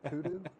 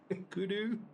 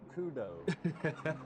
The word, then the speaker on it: kudu: Kudu. Kudu. I definitely would have said kudo because where I'm from that's a dough that's a deer.